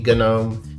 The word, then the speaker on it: GNOME: I have been told by my viewers that it's supposed to be a hard G Gnome, and LXQt is supposed to be LXQt.